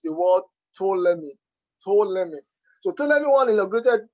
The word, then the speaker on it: Ptolemy: While in 284 BC, Ptolemy, that word is pronounced Ptolemy, but pronouncing all these ancient words could be actually fun and difficult at times.